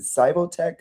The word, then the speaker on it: SIVOTEC: I want you to tell us about, is it SIVOTEC?